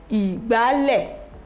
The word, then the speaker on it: ìgbálẹ̀: So this one is ìgbálẹ̀, ìgbálẹ̀, re re. Let's pronounce ìgbálẹ̀, ìgbálẹ̀, do mi do, ìgbálẹ̀.